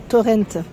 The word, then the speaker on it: Torrente: Torrent, c'est ça hein, la prononciation. Hein. Moi, je disais Torrente avant, c'est pour ça que je...